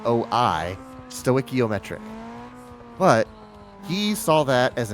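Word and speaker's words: stoichiometric: So if you are balanced with the air pressure at 14.7 to1, you are what's called stoiciometric. S t oi, stoiciometric.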